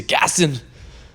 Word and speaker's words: Gaston: Gaston.